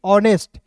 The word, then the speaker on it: honest: उसके बाद देखिए यहाँ पे HONEST ऑनेस्ट, एच का दोस्तों यहाँ देखिए एच का यहाँ पे अ के रूप में उच्चारण करेंगे, ओ है तो इसका उच्चारण अ के रूप में।